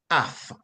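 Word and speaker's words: אף: derived that root word is transliterated from Hebrew to English as a p and it is pronounced AF AF AF meaning properly the nose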